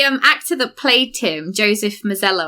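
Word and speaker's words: Joseph Mazzello: Actually, the um actor that played Tim, Joseph Misello, I think it's pronounced, um he actually auditioned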